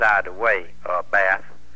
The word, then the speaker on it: Beth: for me she says b-e-t-h he said well that's beth she said now mom and paul always call me bath and it's bath he said well you